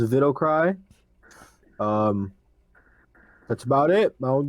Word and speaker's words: Widowcry: On Instagram, Widowcry is pronounced Vidocry.